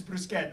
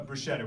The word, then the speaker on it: bruschetta: This C-H-E is pronounced K.